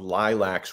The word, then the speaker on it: lilacs: And David, I want to point out how endearing I find your pronunciation of Lilacs, with the A being like a short O.